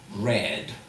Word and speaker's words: read: So that's the pronunciation red. Red just like the color red.